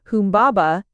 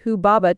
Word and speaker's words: Humbaba: of the cedar forest, Humbaba, but probably pronounced Hubaba 27 Eio or as the name appears in the old Babylonian version, Huwa.